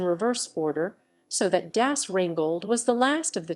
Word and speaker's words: Rheingold: yes rain gold gas wrangled pronunciation the rhinegold wwv 86a is the first